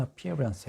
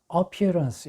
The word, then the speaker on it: appearance: 것은 was his second appearance 해서 그의 두 번째 출석이다. 그런데 여기서 중요한 게 appearance 이렇게 발음을 하시면 안 돼요. 여기서 액센트가 어에 없습니다. 여기 두 번째 모음이 있어요. 그래서 appearance 이렇게 됩니다.